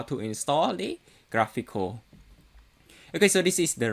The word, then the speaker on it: GraphiQL: as sql so for this i'm going to pronounce this as graphical so again this tutorial we will be installing